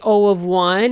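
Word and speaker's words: O(1): Now, as I said, you heard me say O of 1 and O of n. That's how you say it. O of, and then the value that's in brackets.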